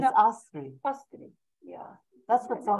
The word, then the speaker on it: Astrid: So you don't pronounce the D at the end of Astrid. It's no. Astrid.